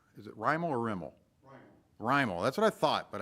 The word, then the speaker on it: Rimmel: Rimmel.